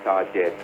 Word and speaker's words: target: Yeah, people pronounce it as target, some people pronounce it as target. This English pronunciation is target. Where is the stress? Ta. The first part, target.